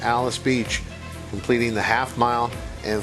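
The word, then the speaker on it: Alys Beach: at Churchill Downs I know it looks like allies Beach uh but K and Brar informing us the correct pronunciation here is Alice Beach believe that's her on the inside correct the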